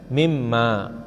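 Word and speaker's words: مما: begitu tuh mint ma karena disambung jadi bacanya mimma Ya karena bacaannya kan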